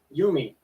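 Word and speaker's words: Yomi: or however it's pronounced it's spelled y-o-m-i yeah so it so i'm pretty sure you're saying that right which one you me you me okay so truck to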